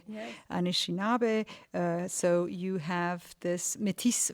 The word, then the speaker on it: Anishinaabe: So you have already mentioned that your father is French and your mother is, am I pronouncing it correctly, Anishinaabe. Yes. Anishinaabe.